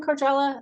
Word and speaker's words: Korjala: And is your last name Cordella?